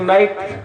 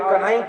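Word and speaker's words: knight: एक नाइट रात होता है और एक कनाइट होता है, लेकिन उस राजकुमार उसको कनाइट नहीं बोलना, नाइट ही बोलना है।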